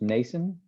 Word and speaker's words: Mnason: And my guess is his name is pronounced Mnason, kind of like mnemonic kind of deal, that MN.